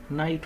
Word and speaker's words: knight: करना एक तरफ और आजकल हम इसे नाइट पड़ते हैं अंग्रेजी डिक्शनरी में कहीं भी के इन स्वरों में आ जाएगा तो कि खत्म हो जाएगा साइलेंट हो जाएगा 2019 था वहां उस